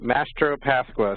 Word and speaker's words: Mastropasqua: my name is master of Pascal oh so it's just the way it's spelled it's not too crazy but yeah it looks